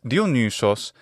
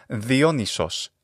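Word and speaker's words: Διόνυσος: And it's Dionysos in classical Attic pronunciation, but Dionysos in modern Greek pronunciation.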